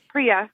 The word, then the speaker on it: Priya: Now, Priya, am I pronouncing that right? Yep, Priya.